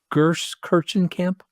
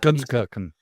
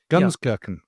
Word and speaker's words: Gunskirchen: Going to mispronounce this cuz I'm a Italian from Long Island, so forgive me, but he stumbles into Gers Kirchencamp, I guess it's called. Gunskirchen. Gunskirchen.